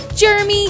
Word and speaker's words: Germy: The Kayfabe Crunch is kept clean by Germy Hand Sanitizer. It's spelled Germ-Y, like other popular brands, but we prefer to say Germy.